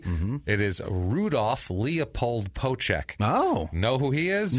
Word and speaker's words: Poeschek: It looks like Poeschek, but I know just from hearing countless announcers, it's Poeschek. Poeschek is what they call him.